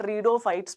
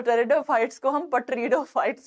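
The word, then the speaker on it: Pteridophytes: वैसे सो confused but रीडोफाइट्स क्यों बोल रहा है बच्चा तो टेरिटरी ऑफ फाइट्स बोल सकते हैं इसमें साइलेंट होता है इसमें वो साइलेंट हो जाता है तो बट रीड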